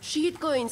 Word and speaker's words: shitcoins: Shitcoins, se pronuncia shitcoins, como inglés, ya sabes.